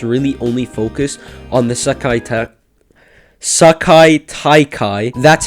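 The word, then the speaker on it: Sekai Taikai: up and it's really only focused on the Sakai Taikai.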